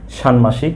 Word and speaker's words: ষাণ্মাসিক: মূল্যায়ন সানমাসিক পরীক্ষা ইত্যাদি এবার দেখা যাক সানমাসিক শব্দের উচ্চারণ কি হবে সাংমাসিক শব্দের প্রমিত উচ্চারণ হবে সাংমাসিক এভাবে আজকে আমি সাংমাসিক